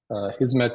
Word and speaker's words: Hizmet: And Hizmet is just a Turkish word, or actually an Arabic word that we pronounce this way, meaning service.